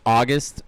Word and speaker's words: Auguste: I was like, is it Auguste? No, it is. It's just Auguste.